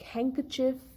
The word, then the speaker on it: handkerchief: it is not heard letter d is also silent in words like handkerchief handsome sandwich where we have sound